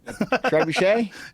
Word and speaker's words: trebuchet: Trebuchet? Trebuchet. I'm saying it wrong. No, that's it.